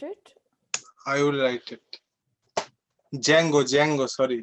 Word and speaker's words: Django: i will write it django django sorry d is highland yeah dragon why did silent yeah the uh d is silent so it'll be django unchained okay you wanna i